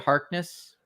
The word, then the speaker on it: Harkness: Harkness?